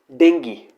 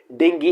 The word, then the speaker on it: dengue: है मच्छर काटने से, तो इसे लोग प्रोनाउंस करते हैं कि डेंगू। वो हिंदी की प्रोनाउंसिएशन हो सकती है लेकिन इंग्लिश में उसे डेंगी ही बोलते हैं, तो इसे प्रोनाउंस करेंगे हम डेंगी।